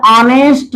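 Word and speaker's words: honest: यानी इसका उच्चारण क्या करेंगे हम? ऑनेस्ट मैन। तो देखिए इस शब्द का जो है इस शब्द का पहला ध्वनि यानी प्रथम ध्वनि क्या है? हिंदी वर्णमाला का स्वर है।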